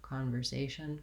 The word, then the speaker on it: conversation: important in this word you might be saying this more like conversation kanba and you really want to make sure you still have that tight back r conversation conver because american in american speech the letter r is always going to have an er sound we always use the tensor so con ver if